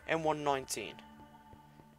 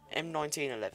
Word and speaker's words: M1911: M1919. M1911, that's how you say it.